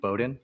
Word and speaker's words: Bowden: uh just to clarify you pronounced your last name Bowden not Boden Bowden Bowden okay good